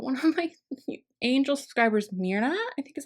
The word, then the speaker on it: Mirna: But one of my angel subscribers, Mirna, I think is how you say it, it's